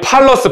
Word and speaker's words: palace: 자, 우리 팔러스 발음 따라해봐. 팔러스. 플레이스 아니에요? 플레이스는 우리 장소라는 단어가 있는데, 그 플레이스가 아니라 팔러스야.